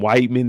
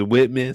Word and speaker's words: Whitman: Now, I know a lot of people be calling him Whiteman in the chat, but his name is Whitman. So I don't know if y'all just don't know his name is Whitman or y'all think the E is silent or y'all might just be saying Whiteman.